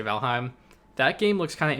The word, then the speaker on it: Valheim: valkyrie sounds correct but i've heard people pronounce that as valhem and that sounds stupid but i'm gonna say valheim that game looks kind